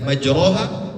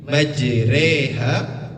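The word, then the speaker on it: مجريها: Jadi bacanya e waqabu fiha bismillahi majraha wa mursaha. seperti itu cara membacanya. Jadi tidak majroha atau majriha. Setengah daripada ro dan setengah daripada ri majreha waursah. Kemudian pertanyaannya, apakah imalah hanya pada surah Hud ayat ke-41?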